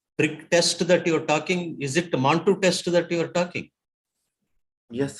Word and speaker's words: Mantoux: Mantoux. X is silent.